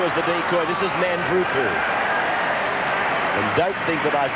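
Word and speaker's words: Nadruku: This is Nandruku. And don't think that I've got the name mispronounced. The professor next to me, Sterling, tells me there is a silent N, and it is to be pronounced Nandruku.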